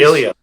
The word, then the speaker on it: Ilja: Ilya. Oh, okay. I always say his name right. Wrong. Bob, go ahead. Ilya. Thank you. Ilya Dragunov. Because the J throws me off.